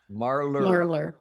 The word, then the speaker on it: Marler: Oh, how do I pronounce that? Marlor. Marlor.